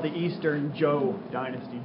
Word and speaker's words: Zhou: It's called the Eastern Zhou Dynasty. Zhou, just like the name Zhou. But we spell it Z-H-O-U.